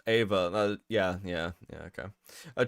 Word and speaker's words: Eva: Like even Jellian gets shorten, even Gallian gets shortened uh to Eva and it's pronounced Ava.